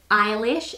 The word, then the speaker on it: Eilis: how you say it i struggled for the longest time pronouncing the main character's name eilish even though it's spelt e-i-l-i-s so i always thought it was something like ellis when i first started